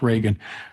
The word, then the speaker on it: Regan: Last name is pronounced Reagan.